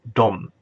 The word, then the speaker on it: de: For plural, we use the word de, often pronounced dom.